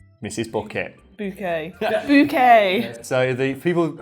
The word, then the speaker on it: Bucket: No, it's Bouquet. Is that for me? It says bucket on the envelope. It's bouquet. B-U-C-K-E-T. Bouquet. The accent on the second syllable.